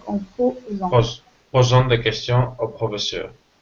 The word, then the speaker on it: posant: Un S entre deux voyelles se lit Z, donc en posant.